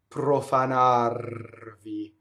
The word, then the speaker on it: profanarvi: So notice I have double P. Pprofanarvi. Both R's are legal to roll in this, so roll, roll, roll, right? So the first R has the P on one side, the second R